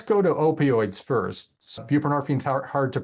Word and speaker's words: buprenorphine: So buprenorphine's hard to pronounce, but that's how it's pronounced.